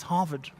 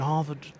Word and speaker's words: Harvard: It's not Harvard, it's Harvard. You must lift it at the end, Harvard. The D is silent.